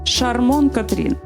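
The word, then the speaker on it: Charmante Catherine: під назвою Прекрасна Катрін що французькою вимовляється приблизно як шармон Катрін за своєю суттю Шарманка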